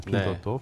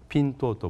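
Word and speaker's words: Pinduoduo: 핀또또. P-I-N-D-U-O-D-U-O. 핀또또 발음은 어렵지만 미국 나스닥 상장돼 있는데 상장돼 있는 이름도 핀또또입니다.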